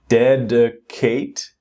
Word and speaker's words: dedicate: Next one is dedicate. Again second syllable is not strong. It's dedicate.